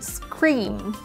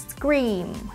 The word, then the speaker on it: scream: Và chúng ta cũng có từ scream. Scream, hét toáng lên. Scream. Chữ cái e a ở đây chúng ta sẽ đọc là âm i.